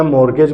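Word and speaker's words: mortgage: Harry मॉर्टगेजेस and charges मोट टी नहीं बोलते हमम प साइलेंट है शायद बोलते भी हो मेरे ख्याल में मैंने तो पढ़ा ही हुआ है यही कि नहीं बोलते मैं मॉर्गेज बोलता हूं आपकी मर्जी जो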